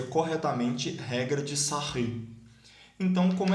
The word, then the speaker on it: Sarrus: da regra de sarin a gente escreve em regra de sarrus do escrever aqui é e como ele era francês a gente pronuncia corretamente regra de sarrus então como é que